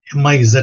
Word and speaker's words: Ms: பட் இதுல very இன்ட்ரெஸ்டிங்கான ஒரு விஷயம் என்ன அப்படின்னோம்னா, MS எப்படி உச்சரிக்கிறது? இப்போ MISS வந்து மிஸ்ன்றீங்க, MRS வந்து மிஸ்ஸஸ்ன்றீங்க, MS வந்து எப்படி உச்சரிக்கிறது சார் அப்படின்னு கேட்டீங்கன்னா மிஸ், MIZ சவுண்ட், மிஸ் இப்படிதான் உச்சரிக்கணும்.